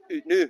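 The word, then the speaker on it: Oot Noo: out now, as in out now. Out now, but it's spelled Out now. the Scottish way.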